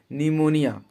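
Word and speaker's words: pneumonia: इसको आप लोग याद कर लीजिएगा, स्टार्टिंग पी से होता है बट पी यहाँ पर साइलेंट रहता है, निमोनिया।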